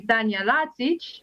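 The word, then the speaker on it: Tanja Lazić: that's okay um but if i tell you that my name is actually tanya lazic maybe that will ring a serbian bell so thank you for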